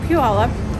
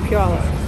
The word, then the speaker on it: Puyallup: all right all right hi i'm marie from puyallup i have lots of trains in puyola you do and you know how to say